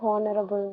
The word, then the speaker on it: honorable: An honorable, ma'am. Good. Already saw many times. H is silent here.